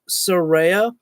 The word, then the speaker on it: Saraya: bit and uh yes it is uh pronounced as Soraya so if you want to sound out as uh sir and then like Rey you know like Rey Mysterio and then yeah at